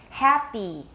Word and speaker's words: happy: I want you to listen to the way I say it and tell me if it's short or long. Happy. Happy. I'm very happy. It's long.